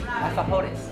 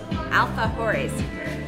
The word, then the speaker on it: alfajores: So how do I pronounce the name of this? Alfajores. Alfajores.